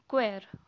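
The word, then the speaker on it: choir: Okay, the next is क्वायर. ठीक है, this is not sure और जो भी आप बोलते हो, दिस इज़ क्वेयर. ओके, इसे चोर प्रोनाउंस नहीं करना है.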